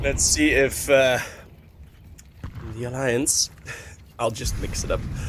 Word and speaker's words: Alliance: just don't like it's it's also the Dutch pronunciation though alance I like it more I just like it more it it's it's oh you're an invest or it's your guys's fault for picking a name that you can pronounce in two ways not mine it's not my fault is it really okay so officially it's Alliance okay yeah Fair your